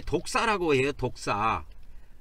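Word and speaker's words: δόξα: 영광이 헬라어에 보면 이게 독사고기 말하는게 아니고 헬라의 발음이 원래 독사에 독사 이 독사를 영광이라 그러는데 영광이라는 것은 광체를 이야기합니다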